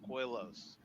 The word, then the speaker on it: Koilos: how I pronounce it just k i l coil and then OS o so quilos that is all our